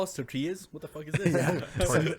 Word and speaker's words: tortilla: This is how you pronounce tortilla. You've been pronouncing it wrong this whole time. You gotta really emphasize the L's darn. in tortilla.